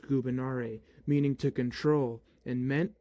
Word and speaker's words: gubernare: In classical Latin, there is no V. It's pronounced gubernare, meaning to control.